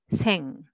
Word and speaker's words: 학생: First one is syllable by syllable. So try to read separately. 학생. You can make a soft s sound just pronouncing alone, but together you will make 학생, 학생.